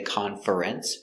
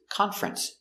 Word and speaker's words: conference: good example com conference we don't say conference it's conference two syllables conference there's a conference at